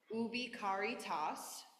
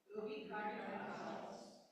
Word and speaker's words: Ubi caritas: So quick pronunciation, because I have sung this before. Ubi caritas. Ubi caritas.